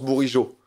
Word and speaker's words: Bourigeaud: Ça se prononce Bourigeaud.